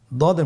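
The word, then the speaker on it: ضاد: দদ হরফটি উচ্চারণ করার সময় অবশ্যই 3 আলিফ টেনে পড়তে হবে। আপনারা আমার সাথে বলুন দদে। আবার বলুন দদে। আলহামদুলিল্লাহ, দদ হরফটিও মোটা হরফ, মোটা করে উচ্চারণ করতে হবে।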